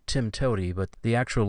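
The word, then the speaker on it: TIMTOWTDI: programming language it's a programming acronym and it's pronounced Tim toy but the actual letters are TM t w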